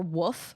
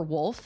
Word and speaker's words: wolf: Rough for roof or woof for wolf.